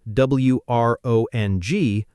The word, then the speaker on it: wrong: And wrong, spelled w r o n g, pronounced wrong.